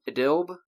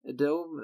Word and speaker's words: Idlib: in the province of Idlib? Idlib, is how you say it? I think it's actually Idlib. It's a weird way to do that, but it's an Arabic, so yeah.